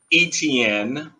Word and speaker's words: Etienne: is on my hometown jacksonville jaguars uh travis etienne is how you pronounce his his last name he's a running